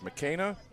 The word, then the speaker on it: McKenna: I just want to make sure I'm pronouncing this right. It's McKenna.